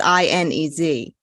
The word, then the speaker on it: Ines: My mom's name is Ines. I don't know how that happens. That's not. My. Yeah. No. It's supposed to be pronounced Inez because it's Inez. But if somehow that happened, her name is Ines.